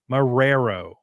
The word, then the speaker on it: Marrero: Marrero. Yeah, like George A. Romero, but Marrero.